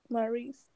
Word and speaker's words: Murray: In the movie Groundhog Day, Bill Murray's how do you pronounce?